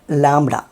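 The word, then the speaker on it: λάμδα: ഇത് ലാംഡ ആണ്. ലാംഡ, ലാംഡ. 'പ്രണയം' എന്നതിലെ 'l' പോലെ ഇതിന് 'l' ശബ്ദമുണ്ട്. ലാംഡ.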